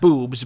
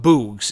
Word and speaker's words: Boogs: of rick boogs who not boobs but boogs it's spelled similarly oddly enough so his original name